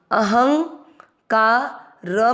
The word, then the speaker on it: अहंकार: हिंदी अर्थ सहित समझेंगे पहला चरण अह ह में अ मिक्स किया ह के बाद में अंग अंग का क्या काम है ह पर बिंदी लगाएगा आधे न की अहं का र में अ मिक्स करेंगे अहंकार शब्द पूरा होने के बाद